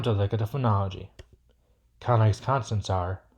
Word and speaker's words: Caunlang: It's Caunlang, spelt c a u n l a n g.